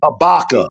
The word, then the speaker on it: Habakkuk: No, it's pronounced Habakkuk.